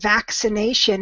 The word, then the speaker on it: vaccination: to help you remember the word vaccination has both decay and the S sound and the C that's next to the a is the hard sound and the sea next to the eye is the soft sound that's not a rule